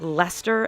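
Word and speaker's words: Leicester: of saying everyday words name like Lester and wacher can cause tourist problems because they aren't pronounce anything like how they look other words can be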